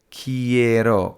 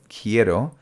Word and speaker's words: quiero: ask well put simply when we pronounce words in Spanish we generally pronounce all the letters of a word so for example quiero qu i e AR o quiero seems quite simple English on the other